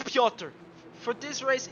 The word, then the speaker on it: Piotr: is in split 3, always writes me how to pronounce the names, and I should have known it, but it's Piotr. For this race, it's just Piotr.